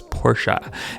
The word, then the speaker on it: Porsche: that and the 96 Porsche Carrera or Porsche Carrera however you guys want to pronounce it at the proper way though is Porsche and we've got total